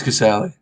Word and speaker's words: Casali: Is it Casali or Caselli? It's Casali.